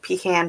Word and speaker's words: pecan: Fruit salad and pecan pie, number 2.